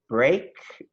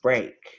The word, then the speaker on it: break: one would be a-okay like break so let's pronounce them we have break let's all say it together break great you take your mute off and help